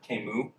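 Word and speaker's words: Camus: Um there's this one French philosopher, Kimu. No idea why his name is pronounced that way, but it's French.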